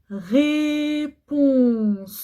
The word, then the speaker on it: réponse: Une réponse. Réponse. Pourquoi je dis ce? Parce que il y a une voyelle après, mais pas de chaque côté.